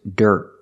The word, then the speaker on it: dirt: a dead cheap price we cannot say at a dead Jeep price the word is dirt dirt at a dirt Jeep price the word Dirt has I followed by a consonant when you see I followed by a consonant it makes the r sound like Burger make a voice here